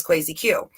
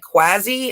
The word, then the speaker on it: Crazy Q: be crazy q but everyone kept pronouncing it quasi instead of crazy like I was like no it's like crazy but with a queue you know play off